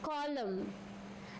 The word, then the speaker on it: column: Column. N silent.